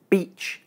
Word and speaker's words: beach: However, as you have just learned, in the words beach and bitch, the vowels are the same length. They're both short. So the difference must be something else. In fact, the difference between these two vowel sounds is due to a small difference in tongue position.